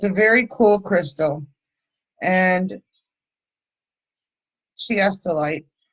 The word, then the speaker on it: Chiastolite: And Chiastolite. It's in the description, but C-H-I-A, like chia.